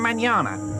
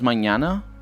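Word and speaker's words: mañana: a good way to pronounce that nh for portuguese or n with a tilde for spanish knee it's basically knee like manana it sounds exactly like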